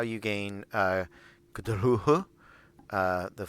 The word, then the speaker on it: Cthulhu: Who, so Cthulhu.